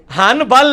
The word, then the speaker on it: حنبل: حنبل ہے لیکن پڑھا میم جاتا ہے, کیوں؟ با آ گیا نون ساکن کے بعد تو نون مکمل ختم ہو جاتی ہے.